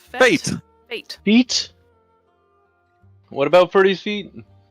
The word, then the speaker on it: fête: How do you pronounce it? Fête? Fate.